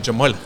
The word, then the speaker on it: Jamal: Even the H in my name is just the accent is slightly different, like Jamal.